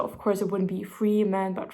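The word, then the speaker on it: Fremen: e men so of course it wouldn't be free man but Fran but I don't know in my head I pronounce it Freeman all the time and now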